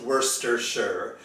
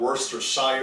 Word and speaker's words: Worcestershire: england and it's pronounced worcestershire people don't really know how to pronounce it because it's not pronounced how you see it spelled it's not worst or shyer it's just worcestershire it's